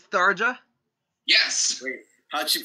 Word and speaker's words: Tharja: Because you know how in Norse J's are usually pronounced as Y? Only after a hard consonant, not after a soft consonant.